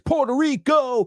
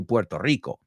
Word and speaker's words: Puerto Rico: Puerto Rico, a Puerto Rico.